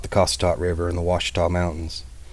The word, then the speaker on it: Ouachita: Cossatot River in the Ouachita Mountains. I've heard a few old-timers pronounce it Ouachita Mountains, but man, that just sounds so dumb.